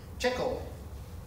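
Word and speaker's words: Tcl: in your script file tickle is how that's pronounced that stands for Tool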